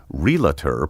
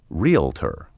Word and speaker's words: realtor: the right and wrong relator puts the sound of the l before the a as though the word were spelled r-e-l-a-t-o-r the proper pronunciation sounds like the word real followed by tur realtor you should also take